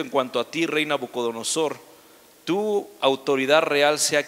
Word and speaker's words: Nabucodonosor: cuando saben quiénes nabucodonosor hay personas que no saben pronunciarlo bien nabucco song o core o cosas así pero es nabucodonosor fue el rey bueno